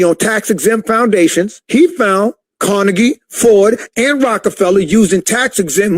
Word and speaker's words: Carnegie: The Rockefeller Foundation, the Carnegie, that's how you say it, the Carnegie Foundation.